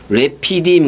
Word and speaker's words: 르비딤: 자 그 르비딤 해보세요 원래는 그렇게 발음하면 돼요 르비딤이 아니라 그 한글 저거고 래피디엠 그래요이 말은 그 쉬는